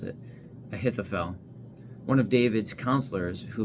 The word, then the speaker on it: Ahithophel: While Absalom was offering the sacrifices, he sent for Ahithophel, I think that's how you pronounce it, Ahithophel, one of David's counselors who lived in Gilo.